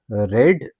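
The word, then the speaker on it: read: मी okay अब देखिए रीड की जो थर्ड फॉर्म है ना वो भी रेड ही पढ़ी जाएगी पर स्पेलिंग ना तीनों फॉर्म्स में पहली फॉर्म में ये रीड लिखते हैं पास्ट फॉर्म भी इसकी रेड पढ़ी जाएगी स्पेलिंग सेम रहनी है और थर्ड फॉर्म भी इसका जिसे हम पास्ट पार्टिसिपल कहते हैं वो भी रेड ही पढ़ा जाएगा। ओके?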